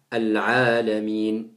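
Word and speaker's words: العالمين: Le tout petit trait qui est juste après la lettre Ayn, c'est ce qu'on appelle un med, c'est un prolongement. Et c'est un prolongement qui doit être prononcé. Donc on dit Al-Alamin. Alors on me demande là,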